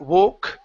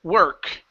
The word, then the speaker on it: work: work right here so even though there is an O in this word we don't pronounce an oh so the word is not woke the word is her were work work good good so I